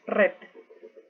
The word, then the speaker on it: red: White negro Black rojo red ojo en la pronunciación de la letra e es un poco más suave no decimos redo red un poco más